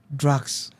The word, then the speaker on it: Dracx: The name is Drax, right? Drax. How is it spelled? DRACX. Yeah. Okay. Yeah, Drax. That's how it's spelled.